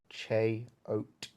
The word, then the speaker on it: Cheyote: to update it uh how does one even pronounce cheo it's pronounced che oat there you go with